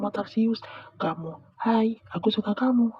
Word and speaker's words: tarsius: Awalnya aku kira itu editan, ternyata beneran ada namanya T A R S I U S. Tarsius. Bukan tarsiusan, bukan Tarsiuswati, bukan juga bacanya Tarzan ya.